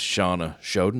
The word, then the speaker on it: Shana Shoden: an amazing guest Miss Shawna shoden did I say it right that time you got it right Shawna it is Shawna how are you I'm